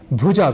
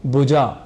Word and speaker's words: भुजा: और फिर ऐसे ही भुजा को भुजा कह जाते हैं जो कि अशुद्ध है यानी हमने यहां